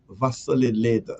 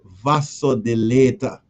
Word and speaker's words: vasodilator: Raw garlic is a is a vasolid vasolidator. Sorry. Vasodilator. Vasodilator. This word always give me a little problem pronounce.